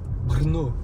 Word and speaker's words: Brno: Comment tu le prononces? Brno.